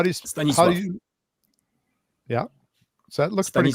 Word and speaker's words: Stanisław: The Yeah, last he's- three letters spell law in English, so it's clearly why we would pronounce it that. But in Polish, it would be Stanisław, and the L is actually not in Polish. It would be an L with like a little apostrophe through it, and it would be w.